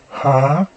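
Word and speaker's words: המשיח: Hamashiach is pronounced as Ha-ma-sha-yak, and it means the anointed one. Hamashiach.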